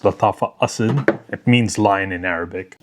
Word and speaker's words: Asad: on the map was none other than Latafa Assad. That's right. It's actually pronounced Latafa Asid.